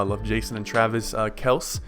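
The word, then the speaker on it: Kelce: Jason and Travis uh Kels it's actually pronounced Kels not Kelsey in case you guys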